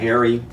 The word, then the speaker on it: Meharry: Meharry in Nashville.